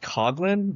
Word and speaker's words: Coughlin: Well, it's pronounced Coughlin, but it's pronounced like cough and then Lin. It's like Okay. Father Coughlin.